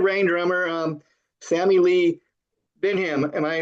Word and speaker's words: Bendhiem: is a Red Rain drummer um Sammy Lee Benham. Am I pronouncing that right Sammy? Yep. Just Sammy Lee Benheim. Yep. Benheim.